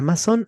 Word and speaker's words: masón: La palabra masón, así con el acento en la O como la tenemos hoy aquí, deriva de una palabra alemana y etimológicamente significa tallador de piedras.